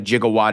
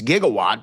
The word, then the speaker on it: gigawatt: Everyone knows what a jigawatt is even though that's the incre incorrect pronunciation of it. It's gigawatt but he says jigawatt so I say jigawatt.